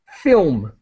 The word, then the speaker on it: film: thank you okay uh this is a really difficult sound the uh in film film and and so fil with the M sound film try it again please film film yes good okay there's there's no vowel there's no other sound between the L and the M film now a tearjerker this